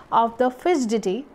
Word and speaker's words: fidgety: So she gave him a lively description of the fidgety. D is silent here, means that is called restless or बेचैन in Hindi you may say.